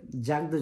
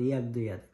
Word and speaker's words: Jakdojade: ইংরেজিতে আমরা উচ্চারণ করলে বলবো হচ্ছে জাগদো যাতে যে দিয়ে, কিন্তু ওরা এটাকে উচ্চারণ করে ইয়াগদো ইয়াদ।